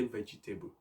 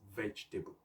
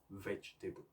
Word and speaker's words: vegetable: so people often say vegetable making it false labels but the correct pronunciation is vegetable three syllables vegetable so the vegetable actually